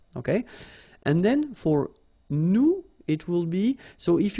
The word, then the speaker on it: nous: Okay, and then for nous, it will be, so if you remember correctly, so final S is not pronounced here.